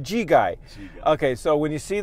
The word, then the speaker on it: Gegaj: Today, how do you pronounce my last name? Gegaj, though. I got it right. Actually, Gegai. Gegai.